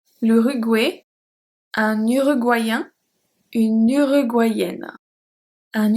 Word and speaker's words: l'Uruguay: L'Uruguay. This one, the pronunciation is quite different than what you encounter usually in French. L'Uruguay.